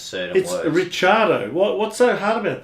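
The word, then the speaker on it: Ricciardo: why does the australian media do that daniel ricardo yeah do you know how you're really supposed to pronounce his name well i'll it'll be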